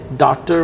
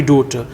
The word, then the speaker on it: daughter: other one and then you mispronounce the word daughter as doctor or something like that right it should be daughter but apart from these